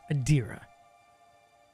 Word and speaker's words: Adira: would be adir adira see I keep pronouncing her wrong adira I'll return the relics